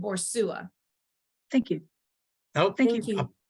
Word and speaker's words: Boussois: It's B-O-R. It's you pronounce it Borsua.